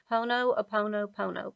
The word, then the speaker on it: Ho'oponopono: Ho'oponopono prayer.